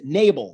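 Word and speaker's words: Nebel: people will see it on facebook i'm nabel my my real last name is n e b l pronounced nabel so long story short what happened is i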